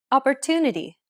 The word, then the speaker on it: opportunity: Opportunity. Opportunity. The stressed syllable to in opportunity is pronounced longer than all the other syllables.